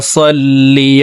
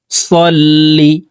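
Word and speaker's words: صلِّ: আল্লাহুম্মা আল্লাহুম্মা সাল্লি সাল্লি এখানে সাল্লি পড়া যাবে না। সদ হরফকে মোটা করে উচ্চারণ করব।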